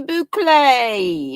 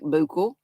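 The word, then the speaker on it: Bouclé: Cozy Boulay is how you say that. Although it looks like ble.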